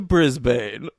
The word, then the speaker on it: Brisbane: The D train to Brisbane. Ooh, pretty good. Yeah, I know it's pronounced Brisbane though, so I was annoyed.